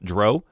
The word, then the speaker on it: drow: So things to think about for this is like, you see where it says elf drow, or drow, depending on how you want to pronounce that.